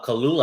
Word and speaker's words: Kaluuya: And it already has Daniel Kaluuya, I think that's how you say his name, attached to it.